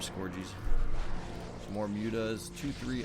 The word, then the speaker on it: Scourge: Yes, I know how they're pronounced. Scourge, but I like to call them scorggies.